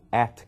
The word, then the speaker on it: @: então John psmi @ esse @a em inglês eu pronuncio eu digo at quer dizer localizado num